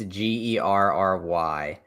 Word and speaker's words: Gerry: It's Gary with an E. But it's spelled like Jerry. It's Gerry.